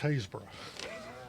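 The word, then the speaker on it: Happisburgh: you who have copies habisberg is pronounced hayesboro oh as we were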